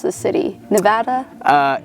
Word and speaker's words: Nevada: yeah first things first okay how do I pronounce the City Nevada uh it's it's Nevada because you know we got to be different